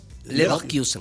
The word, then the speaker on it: Leverkusen: Estefanía sería Leverkusen.